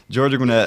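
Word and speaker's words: Georgia Gwinnett: Sorry, I had to think about that because I was going to pronounce it wrong, so I had Yeah, it's a, you know, it's Georgia Gwynette.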